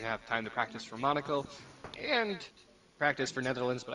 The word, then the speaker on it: Monaco: league for round six at Monaco or as the great Sterling Moss used to pronounce it monarco uh but for myself